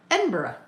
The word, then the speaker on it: Edinburgh: Um, Edinburgh. Edinburgh. Ed in Edinburg. It looks like Edinburg. And the quickest way to show that you are not from Europe is to say Edinburg. Edinburgh.